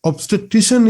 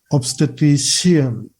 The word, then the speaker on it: obstetrician: to that one late then obstetrician is the correct pronunciation not obstetrician you have to be careful so you know who